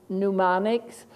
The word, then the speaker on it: mnemonics: We have some very rare letter sound correspondences like MN in mnemonics, PN in pneumonia, and so on.